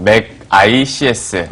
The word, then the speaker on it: 멕아이씨에스: 만들겠다이 회사의 철학도 반영이 되 있는 이름입니다 어 맥 ICS 그래서 이렇게 발음을 하고 있고 어 사명을 그 의미를 따지다